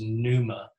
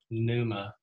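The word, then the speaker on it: πνεῦμα: That word is pneuma in the Greek, pneuma. The P is silent.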